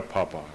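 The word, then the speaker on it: पाप: No, you said that Dikpa, so Dikpa is right, but yeah, so I don't know why Papa. Huh? It's from Sanskrit, and it's pronounced papa.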